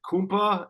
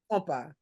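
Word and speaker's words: Kompa: What is it? Kumpa? Is that the big one? Compa. Was it? Compa. Oh, I pronounced it wrong.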